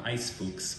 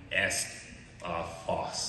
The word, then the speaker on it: Eisfuchs: It's not however you tried to pronounce that last time. It's called Eisfuchs. Did I pronounce it wrong? I don't. Sometimes you try to call it like Est Foss, or no, it's Ice Fox.